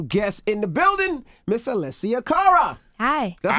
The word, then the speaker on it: Alessia Cara: We have a special guest in the building, Miss Alessia Cara.